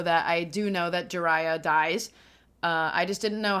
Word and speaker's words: Jiraiya: Jiraiya. Is how you say it. It's easy enough once you know. What does this guy say? Let's get a second opinion. Jiraiya. Okay, cool. Jiraiya.